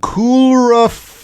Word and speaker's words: coulrophobia: So, how do you even pronounce that? Coulrophobia. What? Yeah, it's literally coulrophobia.